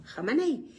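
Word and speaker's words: Khamenei: Pues nada más y nada menos que Hamanei. Así se pronuncia en hebreo, Hamanei.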